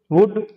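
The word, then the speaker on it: would: इनको एल को साइलेंट रखना, यानी ऐसे नहीं बोलते आप शुड, वुड, कुड, इसको बोलना है शुड, वुड, कुड, यानी एल साइलेंट रखना।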